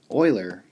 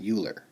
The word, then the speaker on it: Euler: So it's pronounced Euler and not Euler.